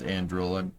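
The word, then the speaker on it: Anduril: Yeah, I know it's pronounced Andrrol.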